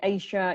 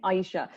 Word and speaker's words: Aisha: the uk and uh i get all types of variations for my name asia isha but in the states you guys know how to pronounce my name aisha so aisha i'm in